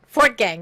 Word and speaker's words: Fortgang: it wrong but i'm gonna try for gam pretty pretty darn good fort gang very good fourth gang you did great there we go and uh